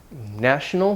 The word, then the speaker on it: national: Nation, national, the vowel changes, national, and then the stress moves, nationality.